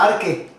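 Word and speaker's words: ἀρχή: siempre está la palabra arque se escribe arche en el idioma inglés o español pero la pronunciación es arque en el idioma griego Ángel viene de la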